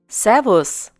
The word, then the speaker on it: Servus: In this case, S takes the pronunciation Z. Servus. Once again, Servus.